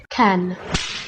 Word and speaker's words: Cannes: They took this over-the-top pop kids movie and they had a world premiere at the Cannes Film Festival. Did I say it right? I didn't say it right, did I? Cannes.